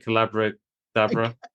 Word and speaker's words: Collabradabra: Collabradabra. Collabradabra. It's like abracadabra.